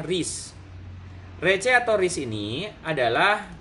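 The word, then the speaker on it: recce: Kemudian berikutnya adalah rece, bacanya ris.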